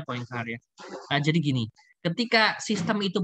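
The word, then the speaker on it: Poincaré: dengar matematikawan Henry poincare tulisannya poincare ya Tapi bacanya points are a jadi gini ketika sistem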